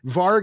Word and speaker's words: varg: In Germanic, it's it's pronounced varg, but it's w a r g versus v a r g, which means wolf or in some cases more accurately watchdog.